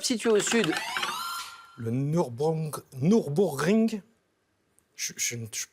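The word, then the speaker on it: Nürburgring: Nurbourgreen. A priori voilà, on prononce pas forcément le je final mais c'est ça.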